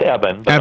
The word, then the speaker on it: Eben: Well, it's Eben. I'm sorry. Dr. Eben Alexander. Eben is how it's spelled if you're looking him up, and we'll tell you more at the end.